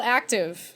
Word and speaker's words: Akktive: It's called Active. Active. And it's spelled AKKTIVE.